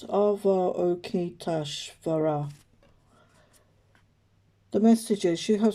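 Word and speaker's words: Avalokiteshvara: with spiritual growth concerns so it's pronounced ava okietash vera the message is you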